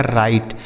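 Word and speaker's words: write: बच्चों यहां जो डब्ल्यू लिखा है ना यह साइलेंट है। मतलब इसे नहीं पढ़ा जाता है। लिखा तो जाएगा लेकिन पढ़ा नहीं जाएगा।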